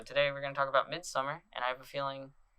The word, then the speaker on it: Midsommar: about like today we're gonna we both watched Midsommar. What the fuck did you say? That's how it's pronounced, right?